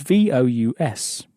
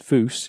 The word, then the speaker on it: vous: So, for instance, the word for you is vous, spelled V-O-U-S, but it's not pronounced vous, it's pronounced vous.